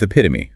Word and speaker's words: epitome: And we begin with epitome, pronounced e p ih to me. The stress placement on that second syllable, p i is absolutely crucial here.